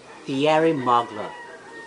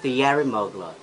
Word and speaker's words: Thierry Mugler: Laurent but it's a French brand so it should be Sun lo ho X is Thierry Mugler and we should pronounce it Thierry Mugler Thierry Mugler and the most common error especially cinema Filipino